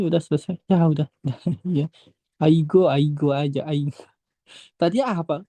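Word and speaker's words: 아이고: Aigo, Aigo aja. Aigo. Tadi apa? Kan aku tadi bilang kalau di tengah nggak berubah bunyinya.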